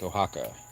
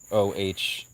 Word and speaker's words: Oaxaca: So exactly, Zach, Oaxaca. You spelled it right. Most people think it's spelled like Ohaka or something.